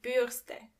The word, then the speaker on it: Bürste: And remember, you don't pronounce the R as R, but more like R. So the word is die Bürste.